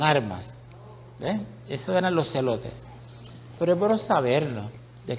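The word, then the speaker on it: zelotes: Los celotes se escriben Z-E-L-O-T-E-S.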